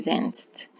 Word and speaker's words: danced: Pues solo añadir la d, you danced. Y se dan cuenta en mi pronunciación que no suena ed. Danced, no danced. Quiere decir que la e pareciera omitirse.